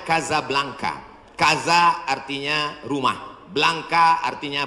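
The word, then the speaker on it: Casablanca: Hasan dua di Kota Kasablanka Hai ibukota Maroko tempat saya kuliah nama negaranya Maroko ibukotanya tulisannya casablangca cara bacanya Kadzab langka Kaza artinya rumah Blanca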